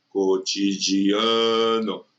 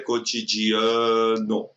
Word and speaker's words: cotidiano: A sílaba não é mais forte, a sílaba é prolongada. Relacionamento, cotidiano, simplesmente, neozelandeses. Se você fizesse isso em qualquer outra sílaba, a palavra ficaria com a sua prosódia errada. Cotidiano, cotidiano, cotidiano, cotidiano, entendeu? Fica errado. A palavra é cotidiano.